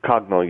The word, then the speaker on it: Coggno: Cogno, yeah. Think of cognitive. That's how we came up with that name.